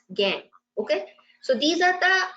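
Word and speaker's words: gangue: is G and gu it is uh pronounced as gang okay so these are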